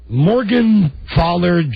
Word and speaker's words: Morgenthaler: We pronounce it Morgenthaler, but you're obviously talking like the big... Oh, so has Arnold told you to pronounce it Morgenthaler? He pronounces my name Morgenthaler and informs me it's the German way.